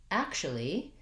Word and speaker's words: actually: And then when I'm going to actually, same thing, I kind of lose this two syllables there. It becomes more actually. It becomes more of just the schwa vowel, actually. So when I actually say that, I don't really say actually. I can, it's not incorrect, but you'll find that Americans typically use that reduction for actually.